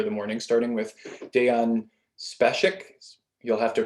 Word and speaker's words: Spasic: Spasic is the pronunciation, but honestly, like I said earlier, it's not a big deal.